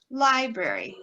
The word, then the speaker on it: library: So here you can see where we're going library, library. That first syllable is the stress syllable.